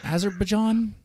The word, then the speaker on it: Azerbaijan: And I understand that you're over there in, can I pronounce this country's name? Azerbaijan?